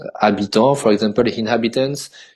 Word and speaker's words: habitant: You want to say habitant, for example, inhabitants. You say habitant, but you don't pronounce the H.